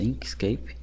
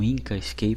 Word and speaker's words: Inkscape: Na verdade, a pronúncia certa é essa, Inkscape, não Inkscape, como eu estava falando, mas tudo bem, são detalhes.